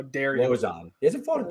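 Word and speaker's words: Lauzon: Even though you were still mispronouncing it, it's Joe Lozon. How dare you? Lozon.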